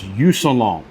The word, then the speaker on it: Yousunlong: So this is a product that was sent to me by, and I hope I pronounce this right, Yousunlong. It's Yousunlong.